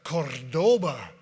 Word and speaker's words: Cordoba: Right here before you is the 1975 Chrysler Cordoba. You got to roll your R's on that one. It's very Spanish sounding.